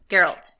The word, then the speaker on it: Geralt: Sorry. Hard G. Geralt.